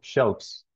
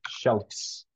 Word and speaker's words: shelves: like a m so shelves shelf shelves so that's how you say it you don't say Shel this no this one sounds like a f so like Shelfs kind of strange um so that it's